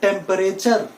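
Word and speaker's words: temperature: इसमें भी ये जो ई है दैट इज साइलेंट। ये वाला जो ई है that is silent. So the right pronunciation for this word is नॉट टेम्परेचर।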